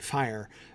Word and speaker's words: fire: Fire, but fire, it's one syllable, fire. And I agree, fear, fire, foes, awake is emphatically a one-syllable fire, right?